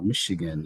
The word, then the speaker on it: Michigan: uh Michigan as some people call it and I'd like